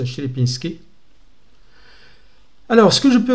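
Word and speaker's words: Sierpiński: Ou Sierpinski, ça dépend. Je crois qu'en polonais, on le prononce Sierpinski.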